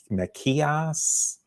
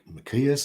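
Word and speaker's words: Μιχαίας: in our 12 apostles he's referred to in greek as something approaching probably makias yeah machias or something uh in the latin vulgate again it seems to be a machias compared to the hebrew maca somebody like isaiah who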